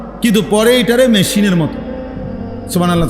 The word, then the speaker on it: সুবহানাল্লাহ: সুবহানাল্লাহ। সুবহানাল্লাহ। সুবহানাল্লাহ। কিচ্ছু হয় না। হা উচ্চারণ না হলে তো তাসবি হয় নাই।